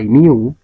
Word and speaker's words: mu: is a universe is denoted by mu pronounced as Mu and usually Artic mean